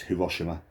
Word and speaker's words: Hiroshima: Nagasaki and Hiroshima, sometimes pronounced as Hiroshima, in the West.